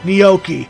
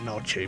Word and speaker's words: gnocchi: I actually pronounced it correctly. At least I hope. Still gonna pronounce it noche because I'm just a stubborn fuck. Will this be with I love gnocchi. That's another way of mispronouncing it.